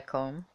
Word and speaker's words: 根: In Japanese pronunciation, it's called Kon Ki, the Kon.